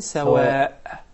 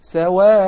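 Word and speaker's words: سواء: So when I say لَيْسُوا سَوَاءَ, I don't say سَوَاءً, nor do I say sawa'. So I pronounce al alif with mad. Sawa'a. Okay? Okay? That's called maddu al iwad instead of the tanween. In case of stopping, I prolong the alif harakatayn.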